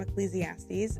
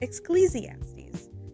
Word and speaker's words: Ecclesiastes: Um for example, we um wanted him to read some scripture from Ecclesiastes and he pronounced it Exclesiaties.